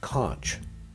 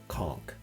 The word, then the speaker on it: conch: You think it's pronounced conch. It's not. All the locals say conchk.